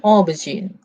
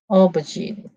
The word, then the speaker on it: aubergine: open this okay okay so look at the pronunciation okay let's listen okay aubergine aubergine okay let's look at cambridge because cambridge is